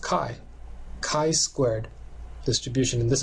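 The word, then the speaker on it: chi: Ki squ distribution okay it's not pronounced chai but it's pronounced Kai Kai squ distribution and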